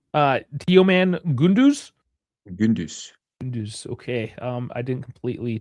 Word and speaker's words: Teoman Gündüz: We like the young players, Yeah, and I'll let you correct my pronunciation on this Turkish name. Teoman Gündüz.